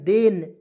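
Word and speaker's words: then: है जब य देखिए टी एच ई एन देन क्या पढ़ेंगे देन तो टी एच का उच्चारण किसके रूप में करेंगे द के रूप में ई से ए की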